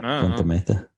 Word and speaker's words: Punta Mita: Punta Mita.